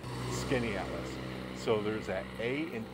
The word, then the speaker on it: Skaneateles: locals printed out and in guides they'll say skinny Atlas that's pretty close but if you are a very local person here in the area you actually know it's skinny at us so there's that A and E SK skinny